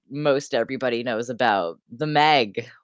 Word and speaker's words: MEG: or factions so um stuff like the meg because i refuse to pronounce it m-e-g um i think most people refuse to pronounce it that way um uh trying to